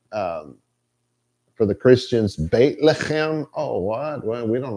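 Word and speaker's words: בית לחם: They, like for the Christians, Beit Lechem. Oh, what? Well, we don't know what that is. Bethlehem. Beit Lechem is how it's actually pronounced. Bethlehem is what it became in English.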